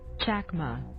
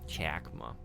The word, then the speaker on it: Chakma: That was the pronunciation though. Chakma. Chakma.